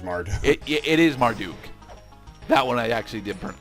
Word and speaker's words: Marduk: the mart uh the marduk mantra marduk yes mark duke pretty sure it's martin it is marduk that one i actually did i mispronounced mostly because i usually mispronounce that one